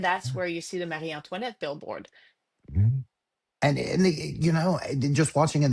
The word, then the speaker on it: Marie Antoinette: The Marie Antoinette, that's how you pronounce it.